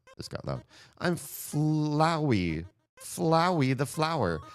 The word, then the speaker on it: Flowey: Flowey the flower. I would say flowy, but that wouldn't rhyme with flower. It would rhyme with like flower. So I think it has to be flowy, right?